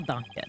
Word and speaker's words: danke: No, danke. Necessary for a line. I was danke. Well, how do you pronounce that?